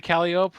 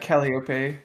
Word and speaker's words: Calliope: get some backstory to Calliope, which I do. Am I saying her name right? there's an E Like, at the end. it's close to Calliope. that. Calliope.